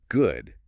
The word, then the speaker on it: good: The guide points out that the word good uses a short sound like in the word book. Ah, okay. Not a long ooh sound like in food, right?